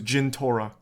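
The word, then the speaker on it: Jentorra: You got that name wrong. It was Jintora.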